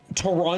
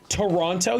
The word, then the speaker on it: Toronto: No, that's like Toronto. That's how it's spelled. Toronto, you can tell that they're not Canadian because it's Toronto. There's no Toronto, it's Toronto. There's no T in the middle.